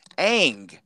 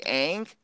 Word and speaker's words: Aang: as Katara Sokka and Angwin but then the pronunciations why the hell are you changing the way you say names Aang like it is there some legal reason you can't say ank Sokka was Sokka Iroh was yo or whatever